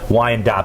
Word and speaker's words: Wyandotte: I think I said Wyandotte a few times, but it's actually Wyandotte.